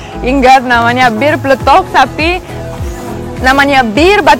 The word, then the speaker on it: pletok: Bir pletok?